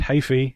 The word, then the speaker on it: Heafy: Matt Heafy. I keep automatically trying. Yeah, to I've been pronouncing it.